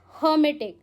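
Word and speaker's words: hermetic: सो हमारा next word है हर्मिटिक। हाउ डू you pronounce?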